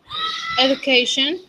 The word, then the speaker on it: education: Education. Excuse me. Education. In that case, D doesn't sound like D, like Doralba, Doritos, Dia, Duran. Education. It's G, G.